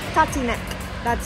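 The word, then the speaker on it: Tatínek: Tatinek. I'll never learn that one. I'll never learn that one. Like, taught to neck.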